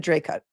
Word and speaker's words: Dracut: I asked at the beginning of the stream, I said, "Somebody who really lives there, please tell me how it's pronounced." And they said, "Dray cut." And now you're saying Drake.